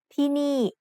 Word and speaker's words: ที่นี่: ที่นี่ has 2 syllables and both syllables have low class initial consonants. We use my egg with both syllables to make each one have a falling tone.